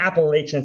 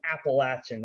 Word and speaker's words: Appalachian: for saying this, but it's not Appalachian, it's Appalachian. Our fans get really, really offensive when you say it wrong.